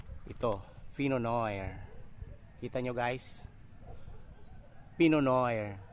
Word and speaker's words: Pinot: Fino kita niyo guys pono yan ang pronounciation niyan Hindi pinot kasi Fr word yan eh so yan ang